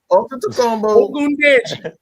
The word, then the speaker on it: Ogundeji: Antetokounmpo Ogundeji.